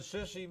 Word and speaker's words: Sisi: Well, President Sisi made the grade in Egypt. He's in charge. He was a general. He stepped down. He got President rid of Morsi. Sisi.